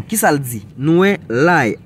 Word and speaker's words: l'ail: Nous l'ail. L'ail en français, il écrit A-I-L. Si n'a pas écrit en créole, tout c'est L-A-Y. L'ail. Ça li prononcer comme aïe, l'ail.